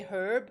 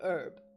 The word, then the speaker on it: herb: Like when you say you don't say herb, you say herb.